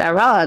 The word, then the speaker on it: Iran: And they said, Iran. And when I woke up, it was Iran, because I actually don't speak with that guy. But, like, it was Iran, the mountains of Iran. But they said Iran, and it was, like, this really weird way